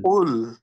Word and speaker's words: قل: কুল এর মধ্যে কফটা মোটা হয়ে উচ্চারণ হবে, এটা খেয়াল قل রাখতে হবে।